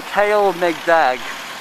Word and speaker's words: Kalemegdan: are walking across the kale meg bag how you say it well as they say kale like mags and megan and dag tell the dog fortress yes it's the